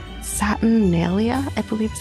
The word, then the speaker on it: Saturnalia: north, there's this holiday that they did called Saturnalia, I believe is how it's said, which is